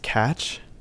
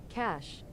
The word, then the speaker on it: cache: I think it's pronounced catch. Hold up. We'll settle the debate, because it seems that there's a confusion with how to pronounce this. According to Google, Cash. I was right.